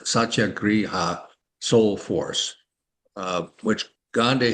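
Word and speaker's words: Satyagraha: Um and he brought back this idea of u uh sat I had to say it right but it's a vadic word satya griha soul force uh which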